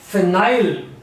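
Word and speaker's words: phenyl: द वे to right it is pronounced S फिनाइल फिनाइल अगर हमने उस खाली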